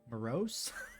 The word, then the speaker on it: Moros: damn it it always it seems wrong that's the way they pronounce it in the game I always I always want to say morose morose morose it's morose morose morose